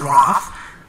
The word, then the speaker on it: RAFT: Don't have the, like the first process RAFT, it can be one word, can be pronounced as an English word, but this is the reversible addition fermentation chain transfer.